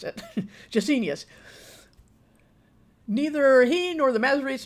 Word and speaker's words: Gesenius: Gesenius. For some reason, my brain just couldn't remember how I pronounced that because it's not how I used to always pronounce it. Gesenius.